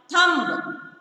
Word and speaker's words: thumb: Ninth one, thumb. T-H-U-M-B, thumb. T-H-U-M-B, thumb. The letter B is silent, so circle letter B.